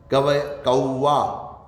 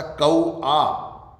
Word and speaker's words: कौआ: जैसे मैं एक शब्द का उच्चारण करूं, गवैया, कौवा, कौवा, ये गलत है। गवैया, ऐ की मात्रा, गवैया तथा कौआ, कौवा नहीं कौआ, ये इस तरह से इनका उच्चारण होगा।